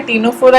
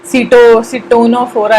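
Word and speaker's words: Ctenophora: और टीनोफोरा का मैंने टी ले लिया है क्योंकि सी तो साइलेंट ही होता है, टीनोफोरा ही बोलते हैं हम लोग, सिटोनोफोरा ऐसा तो नहीं बोलते ना, तो इसीलिए टीनोफोरा का टी ले लिया।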